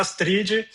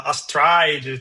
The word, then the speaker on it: Astride: É verdade, é engraçado que, de repente, quem fala Astrid, tem vários jeitos de pronunciar Astrid. A gente fala Astrid, mas tem gente que fala Astride, tem gente que fala Astrid, tem gente que fala...